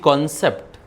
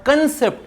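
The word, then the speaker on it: concept: आय ह अंडरस्टड द कॉन्सेप्ट व् कॉन्सेप्ट कॉन्सेप्ट म्हणजे संकल्पना इट नॉट कन्सेप्ट इट कॉन्सेप्ट शब्द लिहित असताना स्पेलिंग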